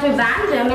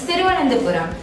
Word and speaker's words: Thiruvananthapuram: It's not Trivandrum, it's Thiruvananthapuram.